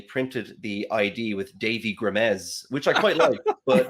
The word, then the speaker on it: Grimes: Grimes, right?